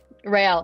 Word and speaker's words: Rael: Is that how you pronounce it? Rail, yeah.